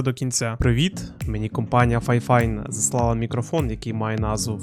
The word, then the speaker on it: FIFINE: кінця Привіт Мені компанія ffine заслала мікрофон який має назву ffine am8 і воно дійсно вимовляється Саме так ffine також додатково до нього